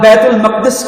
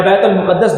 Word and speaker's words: بیت المقدس: فلسطین وہ سرزمین جسے اللہ تعالیٰ نے انبیاء کی پیدائش بنایا, جہاں بیت المقدس کی یا بیت المقدس دونوں اس کے تلفظ رائج ہیں.